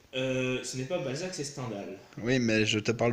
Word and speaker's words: Stendhal: Stendhal. Mais c'était un auteur Parce français, que- ça se prononce à la française.